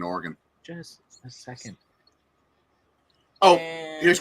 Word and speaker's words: Oregon: why I was saying Oregon just a second oh here's a question do you pronounce it organ or Oregon Oregon Oregon the town